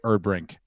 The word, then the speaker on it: Erdbrink: I am joined by Lucas Hurl, Brenton Biddlecombe, Emma, however you say her last name, but I say it's Erdbrink. Oh, you said it right.